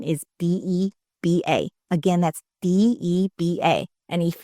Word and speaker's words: Deba: My handle is at Deba, just my name, like how you normally spell it. And the last name is Deba.